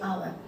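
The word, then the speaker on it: hour: लेकिन इसका क्या है, ये एच क्या है, यहाँ पर एच क्या है, साइलेंट है, यहाँ पे ये क्या बोलते हैं, आवर, तो इसका फर्स्ट साउंड क्या निकल रहा है, आ निकल रहा है, आवर, तो यहाँ पर हम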